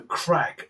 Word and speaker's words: craic: The Irish have an expression, "just for the craic," and it sounds a bit like click, doesn't it? So yeah, just for the crack is how they pronounce it, I think.